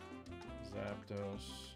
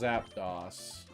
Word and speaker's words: Zapdos: Zapdos. It better not be pronounced Zapdos. I'd be so mad. I think we all agree it's Zapdos, right? Because it's the number dos.